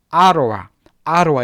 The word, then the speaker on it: Ottawa: 자, 여기서 Ottawa, 자, 오타와라고 읽지 않습니다. 물론 오타와가 발음 기호인데요. 보통은 아로와 이렇게 읽어줍니다.